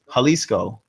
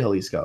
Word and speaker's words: Jalisco: guadalahara Jalisco Mexico right Jalisco is that how you say that Jalisco jalis halisco probably halisco right is it halisco you say halisco I say hco there you go well